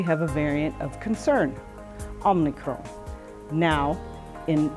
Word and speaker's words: Omicron: And yes, like the other variants, this one is named after the Greek alphabet letter Omicron. Yes, this is the real pronunciation, which I learned from a person of Greek descent.